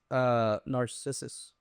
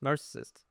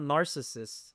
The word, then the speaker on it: Narcissus: Narcissist. No, it's not Narcissus. There's no T in there, first of all.